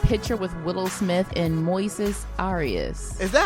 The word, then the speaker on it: Moises: with Willow Smith and Moises Arias? Is that how you say his name? I believe. Well, I have a friend who's Spanish, and his name in, English is Moses, but it's Moises in Spanish.